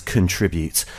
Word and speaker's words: contribute: but like I say technically speaking there is only one true pronunciation especially in academic circles and that is contribute um you know for